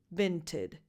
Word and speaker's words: Vinted: And then the last vowel is just a schwa because it's in an unstressed syllable. So you just go from the T to the D. Vinted, tid, vinted.